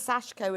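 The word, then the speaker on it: sashiko: I can't pronounce it sh shiko the sashko shash that sash you ignore the eye okay yeah if you're into that Navy's your color okay yes it is sashco and a bit of white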